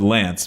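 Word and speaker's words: LAANC: it's spelled laa NC it's actually not an acronym well I guess it is an acronym right because you can pronounce it as Lance but it's technically maybe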